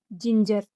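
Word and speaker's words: ginger: अगर जी के बाद ई या फिर आई या फिर बाई, इन तीनों में से कोई भी लेटर आए तो जी का उच्चारण जा होता है। और अगर ई आई वाई इन तीनों को छोड़कर कोई और लेटर आए तो जी का उच्चारण ग होगा। जैसे जी ई एन ई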